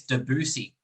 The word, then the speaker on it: Debussy: saying his name wrong i think it's debussy uh we've had a lot okay a lot of um we've kind of called him two names but apparently that's the right one so we'll go with